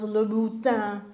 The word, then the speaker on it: Louboutin: but before you buy those Louboutin shoes, and that is the correct pronunciation, they don't even know how to pronounce it.